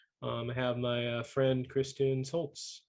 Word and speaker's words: Schultz: I have my friend Kirsten Schultz. How are you? Did I mispronounce it or anything? I'm good. Oh, it's Schultz, but Okay, it's fine.